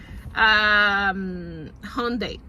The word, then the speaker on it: Hyundai: I just listened to it a few times before I can pronounce it properly. Hyundai.